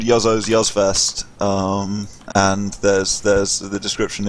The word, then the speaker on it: Juzzo: called with a J, but I was living in Sweden at the time, so J's are pronounced as Y's, so it's like Juzzo.